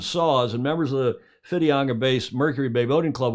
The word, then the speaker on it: Whitianga: Club and it does it looks like whitianga but Hamish if I'm correct it's pronounced fidianga in Maori is that right with an F the W that's correct that's a very good